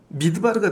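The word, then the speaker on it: מדבר: 때 m을 네모 모양으로 쓰거든요 근데이 m이 뭐냐면은 매미라고 읽어요 맴 그래서이 다발을 하고 합쳐서 미드바르가 되는 거예요 그래서이 미드바르가 광야라는 뜻입니다 그래서 신명기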